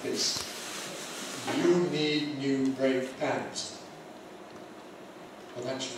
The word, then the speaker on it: brake pad: So we put the stress on the first element and we say brake pad.